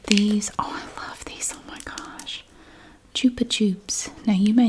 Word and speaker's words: Chupa Chups: and they sold these I always thought it was pronounced Chupa chup I didn't know I never heard it pronounced I thought it was Chopper chop but Catalina said it was Chupa tube so that changed everything I now say jupitup because